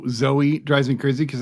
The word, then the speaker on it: Zoe: drives me crazy cuz I can never tell which way they're going to pronounce it for the most part it's always Zoe Zoe is always Zoe see I had a friend whose name was Zoe and she named her name was zo and you very much called her zo so I think Z guys you see more Zoe pronounced Zoe than zo sure you're probably right yeah